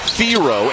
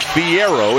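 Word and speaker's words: Thiero: the Hogs a dude theor and yes it is Theo this year not theier it has been he has told people since he has come to fville Theo is the pronunciation he would like he is under the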